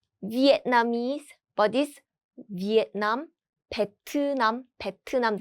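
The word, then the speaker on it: 베트남: vietnamese but this vietnam petunam that's how korean people pronounce this language and also country 2 petunam petnam is the name of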